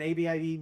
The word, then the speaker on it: Abib: So the spelling of this word is ABIB. But depending on the jots and the tittles that are used on these words dictates whether it's a V, a B, or how you pronounce the vowel.